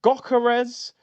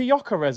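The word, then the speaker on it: Gyökeres: I heard Gokeres. I heard Yorkeres. I said, what? Dwight York? We got the Trinidad brother. Ain't it just Victor Jokeres? I thought we all knew fundamentally how to say this guy's name, Victor Jokeres. I heard man calling him Gokeres, Yorkeres.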